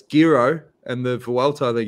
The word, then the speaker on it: Giro: but um craig willis you can't pronounce jiro it's gyro and the vault i